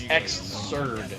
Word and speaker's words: Xrd: pronounce Xrd? XRD? Is it just XRD or is it Xrd? Honestly, there probably It's is just no XRD. proper pronunciation. There's no pronunciation. Just go by the letters, basically.